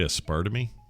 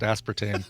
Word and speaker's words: aspartame: drink any of that you say a spur to me a spar to me and I I kind of waited to see if he said I'm just kidding I know it's pronounced aspartame a Spartan II I must